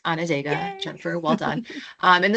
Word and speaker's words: Onondaga: You did correctly pronounce Onondaga, Yay.